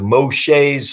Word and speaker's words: Moshe: read going back to moshe's meski a Hebrew speaker told me the the right pronouncing of M O sh is Moshe so Moshe meski out